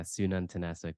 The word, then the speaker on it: Sununtnasuk: so it's son am I correct almost really good yeah Sunan tanasic but totally fine